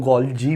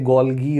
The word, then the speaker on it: Golgi: ठीक है, गोल्गी apparatus भी बोलते हैं, कुछ लोग गोल्जी भी प्रोनाउंस करते हैं। ठीक है, सो इधर यू कैन से गोल्गी और गोल्जी व्हाटएवर।